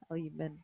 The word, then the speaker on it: aluminum: But the first line is, I pronounce it aluminium because there's an I next to the U and M. Aluminum.